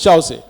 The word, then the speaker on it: Chausse: This is the spur of Causse or Chausse. We pronounce it as Chausse.